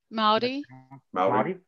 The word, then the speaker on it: Māori: How receptive are the, am I pronouncing it right? Maori? Yep. Yeah.